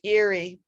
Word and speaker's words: Erie: sleep and second avenue that weird e-r-i-e it's pronounced eerie and i don't know